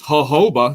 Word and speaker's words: jojoba: Jojoba, that can't be how you say it. Yeah, but it is.